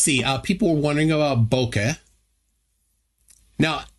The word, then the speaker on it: bokeh: People were wondering about bokeh. Now, how do you pronounce it, guys? It's pretty much like you're saying it.